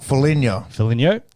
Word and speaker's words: Foligno: So Nick, how do you pronounce that? Foligno.